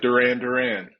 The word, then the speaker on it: Durran: Am I pronouncing your name correctly? Yes, sir. Like Durran. That's right. Durran.